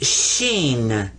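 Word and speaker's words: شين: a regular s and this one is sheen there you are now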